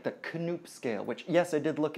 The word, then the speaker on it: Knoop: An objective scale of hardness would be something like the Knoop scale, which, yes, I did look it up. The K is pronounced. It's Dutch. The Knoop scale is much more objective